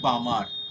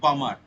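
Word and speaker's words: Balmer: এটাকে আমরা বলি বামার। উচ্চারণটা এরকম, মানে এল এর উচ্চারণটা হবে না, বামার।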